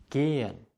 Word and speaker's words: gehen: Das H, wenn es nicht am Anfang eines Wortes steht, sondern in der Mitte, wird nicht ausgesprochen. Das bedeutet, der Vokal davor, zum Beispiel hier das E hier und das E hier, wird lang ausgesprochen. Es ist stehlen, sehen, gehen. Es ist nicht stellen, säen oder gähen. Das H macht den Vokal lang, nachdem es steht.